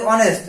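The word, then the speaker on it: honest: এই উচ্চারণ হয়তো হনেস্ট হইতো, আমরা বলি অনেস্ট, মানে এইটা উচ্চারণ হয় না।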